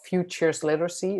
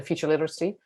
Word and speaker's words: futures literacy: So a lot of Dutch people say future literacy. And then if you say it too quickly, you forget the plural, you can forget the S and it sounds like there's one. That's why you need to slow down and pronounce it correctly.